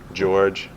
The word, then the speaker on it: Georges: with it uh the the S is silent like De Moine so George yeah no it's spelled in French so it was George but people just call me George